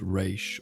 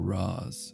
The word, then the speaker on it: Ra's: Whether pronounced Raish or Raz, it translates to Head of the Demon, a title that proves frighteningly appropriate.